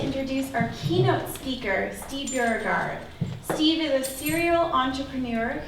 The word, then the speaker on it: Beauregard: It's Beauregard.